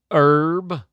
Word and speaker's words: herb: how we pronounce herb well you know how you get you know how you get uh someone in England to say the letter H just tell him it's pronounced herb and trust me H